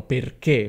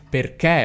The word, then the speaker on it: perché: Però in italia ci sono tantissime persone che non dicono "perché", per esempio qui a Torino, oppure a Milano, oppure a Palermo, si direbbe qualcosa come "pérchè" oppure "pèrchè".